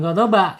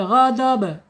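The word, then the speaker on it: غَضَب: Be be bukan gadoba tapi gadob.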